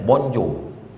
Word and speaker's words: bonjour: Tulisannya bonjour, cara bacanya bonjour, bonsoir, comment tu t'appelles, je ne parle pas français.